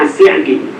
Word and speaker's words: As-Sa'di: Ya, yang lebih betul bacanya As-Sa'di.